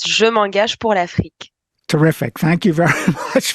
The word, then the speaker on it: Je m'engage pour l'Afrique: It's Je m'engage pour l'Afrique.